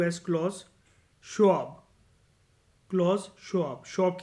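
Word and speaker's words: Schwab: था क्लॉज़ के एल ए यू S Claus शोब Claus शोब शोब की spelling S सी एच डब्ल्यू एबी शोब कब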